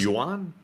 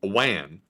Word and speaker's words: yuan: A yuan? Well, how to pronounce... A wan. Yuan. No, a wan. A wan is Korean. Wait a minute, what? It's a yuan. Yuan.